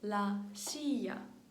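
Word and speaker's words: silla: них в salлон кодоor лашія лашія стілець лашія звертайте увагу на вимову воно пишеться з двома л але вимовляється як й лашяше El кдро е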